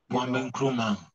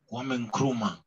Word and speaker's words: Kwame Nkrumah: Kwame Nkrumah. Pronounce it, say for me. Kwame Nkrumah. Kwame Nkrumah.